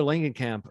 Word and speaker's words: Langenkamp: for uh heather lanigan is it lankan camp or langenkamp i always trip over this i think it's lengthening cam it's a hard l i mean hard g r g so yes uh heather